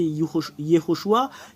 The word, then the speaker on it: Yehoshua: Mais la vraie prononciation du nom de Josué, c'est Yehoshua.